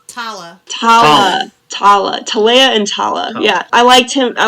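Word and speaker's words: Talla: we've said it right for a while it's tala yeah i liked him i like tala and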